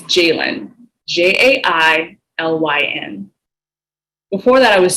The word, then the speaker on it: Jailyn: At 22, I started telling the baristas at Starbucks how to say my name-- my real name-- and how to spell it correctly. It's Jailyn-- J-A-I-L-Y-N.